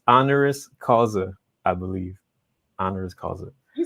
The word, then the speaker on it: honoris causa: Honoris Causa.